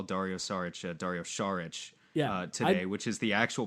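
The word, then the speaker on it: Šarić: I did notice earlier in the episode that you made special attention to call Dario Saric today, which is the actual pronunciation.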